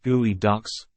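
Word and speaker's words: geoduck: underwater environments geod duct pronounced gooey ducks are a type of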